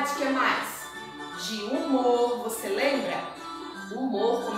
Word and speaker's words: humor: Você não consegue escutar o som do H na palavra humor, só o som do U, porque o H é mudo.